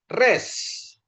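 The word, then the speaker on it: ריש: Oke, sekarang kita lanjutkan rest ya. Res. Rest pengucapannya seperti Anda melafalkan R atau rasa.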